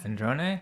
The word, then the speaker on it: Sandrone: Sandrone?